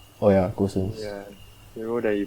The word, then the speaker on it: Gosens: Like the role that like is that how pronounce his name, like Gosen. Oh yeah, Gosens.